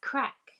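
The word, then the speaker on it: craic: what crack is and so when people were asking what's the crack i was like oh gosh these people do a lot of drugs here anyway it's spelled c-r-a-i-c um going back to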